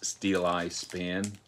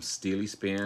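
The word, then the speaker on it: Steeleye Span: to me this is steel eye span i was calling them steely span not to be confused with steely dan but this is steel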